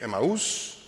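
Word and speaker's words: Emmaus: disciples we going to emus uh Greek pronunciation should be emus depends where you pronounce but I trying to do OS to the close to the English pronunciation so these two disciples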